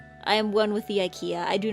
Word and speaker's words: IKEA: am one with the Ikea I do not fear getting lost in its hallways in German it's e it's eeka Ika I wonder what it's like